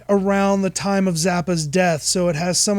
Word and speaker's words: Zappa: is a BBC documentary the Brits and their pronunciation of Frank Zappa's name the American musician Frank Zappa zapper is zapped Erick Frank Zappa Paris zapper is